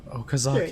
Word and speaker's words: Okazaki: Don't say it like that. Anna, no. Okazaki. Yeah.